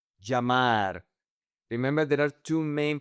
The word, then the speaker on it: llamar: Let's practice the pronunciation. "Llamar". Remember that this is to call. "Llamar".